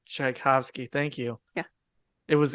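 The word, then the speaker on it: Tchaikovsky: his name sh sh shabos that's not right shovsky chaikovsky thank you yeah it was in there it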